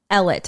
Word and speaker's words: Ellet: I'm pretty sure it's we're just gonna go with the American English pronunciation uh this was another